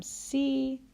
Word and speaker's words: Si: solfege syllable is Li notice that all of the raised solfege syllables end with the letter I or the sound e so we're just changing the vowel sound on the regular solfege syllables so dough when it's raised a half step becomes D ray becomes REE becomes fee so will become C and law becomes Li so that's a good